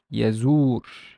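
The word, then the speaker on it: يزور: So we know that it's a long vowel, a long oo sound. And the kasra and the re has a sukun, so I would pronounce it as yazur, yazur, yazur, yazur.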